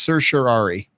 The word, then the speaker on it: certiorari: said that according to Adam kraut that it's pronounced certiorari and Zayn that's pretty much exactly what you